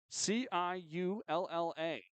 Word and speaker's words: Ciulla: Hudson Suella, as I am told that's how you pronounce it, Ciulla.